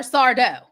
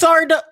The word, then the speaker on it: Sardo: I'd rather I'd rather you said Fazio or Sardo. Like that's a better that's a better uh Who is Sardo again? Oh, Mr. accent on the dough.